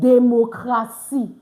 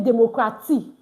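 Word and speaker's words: démocratie: I said democracy. You see it now, TIE. I didn't say democracy. All right, please take note of that. Why? Because the TI is pronounced C in French.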